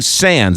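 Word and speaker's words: Sandys: Sands. It's spelled S-A-N-D-Y-S.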